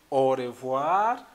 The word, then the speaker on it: au revoir: I will remind you again because of the pronunciation issue. So you have to say au revoir, au revoir.